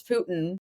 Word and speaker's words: Putin: we talked about Putin I was like Putin like I was pronouncing it like a Putin and then everyone yelled at me I'm like okay sorry it's Putin what if it's like